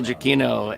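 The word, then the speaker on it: Giacchino: hi there I'm Michael jakino and I'm aooo wow all right jaino so don't PR don't don't overemphasize the actually the a is silent yeah wow there we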